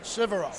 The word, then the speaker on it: Sivero: Sivero.